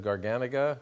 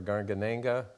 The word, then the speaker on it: Garganega: Well, people sometimes pronounce it as Garganega or Garganenga, and sometimes the one